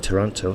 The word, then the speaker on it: Toronto: in Canada well in Toronto they say Toronto and that's just their accent but they swallow the tea they don't bother saying it so if you're not